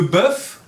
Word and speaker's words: bœuf: Le bœuf lef très bien. Le poulet le poulet ça pour prononci effet des bœuf la de poulet pronuncia la f de la fin.